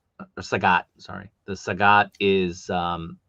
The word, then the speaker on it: Sagat: Um the saget or sagat, sorry.